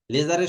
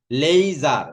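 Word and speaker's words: laser: এল ই আই, লেই, লেইজার উচ্চারণ যদি করো লেইজার তাহলে ঠিক আছে। লিজার বললে কিন্তু ঝামেলা করে ফেলবে, লেইজার বলবে, লেইজার, তাহলে সেই ক্ষেত্রে আর সমস্যা করবে না।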